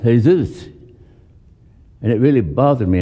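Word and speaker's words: Jesús: We had a sound man here whose name is in English, is spelled Jesus, in Spanish is pronounced Jesus.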